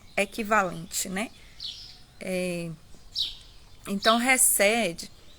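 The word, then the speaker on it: חסד: A pronúncia é com R, né?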